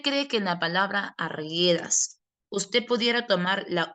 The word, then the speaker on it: Arguedas: Ya no, porque para que formen diptongo, usted pronunciaría, por ejemplo, arguedas, pero la palabra no es arguedas, sino que es arguedas. ¿Qué pasó con la U? La U es muda, la U no está sonando.